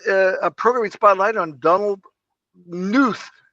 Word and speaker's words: Knuth: And we're going to start out with a programming spotlight on Donald Knuth. I think the K is silent. Knuth.